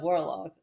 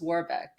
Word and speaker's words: Warbeck: Oh, did I say the character's name wrong? Because I said Warlock. Oh, but it's Warbeck.